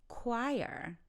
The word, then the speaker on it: choir: say it out loud so did you say choir so the pronunciation is choir a choir is a group of singers you might see